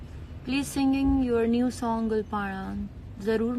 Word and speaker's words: Gul Panra: मेरे नाम की प्रोनाउंसिएशन काफी लोग गलत बोलते हैं, लेकिन इट्स गुलपाड़ा, नॉट गुलपनरा और गुलपनारा, इट्स गुलपाड़ा। सीमा गुलाली का मैसेज आया है।